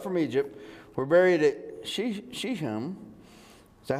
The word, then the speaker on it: Shechem: So Joseph's bones, which the Israelites had brought up from Egypt, were buried at Shechem.